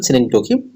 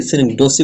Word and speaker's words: synecdoche: এখানে যদি আমি ডিকশনারি একটা আপনার যে ইয়ে আছে যে সিনেকডোকি, এটা উচ্চারণ সিনেকডোকি, অনেকে সিনেকডোসি বলে উচ্চারণ করেন।